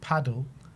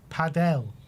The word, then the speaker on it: Padel: It's not paddle. Padell, not hard. Deluded. It's paddle, Danny. It's paddle. We're playing paddle. We're not playing padell.